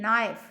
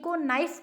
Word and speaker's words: knife: बताया ही नहीं KNIFE, नाइफ, चाकू जिसको हम हिंदी में बोलते हैं, तो नाइफ की स्पेलिंग ये होती है, और KNIFE को नाइफ पढ़ना है, कनाइफ नहीं पढ़ना।